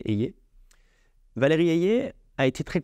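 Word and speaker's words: Hayer: donc c'est Valérie Eyer je sais pas si je prononce bien mais parce que j'ai entendu quelquesuns dire Eyer mais apparemment c'est c'est Eyer Valérie ayer a été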